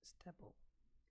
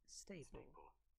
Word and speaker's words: staple: Of course, you would pronounce it like, most probably, you'd be pronouncing it stepple. In fact, this word is not stepple. I mean, it is not pronounced as stepple. It is pronounced as staple.